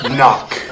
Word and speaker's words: knock: and spell the word knock spell the word enough n-o-c-k not no there's a k you don't see how just because you can't hear the K doesn't mean it's not there spell it with a